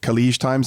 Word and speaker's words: Khaleej Times: under the affiliate product, still allows, is it Khaleej Times? Am I pronouncing that correctly?